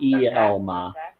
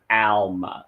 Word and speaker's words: Alma: So it's not Elma. It's not Elma. It's Alma. So it's ALMA.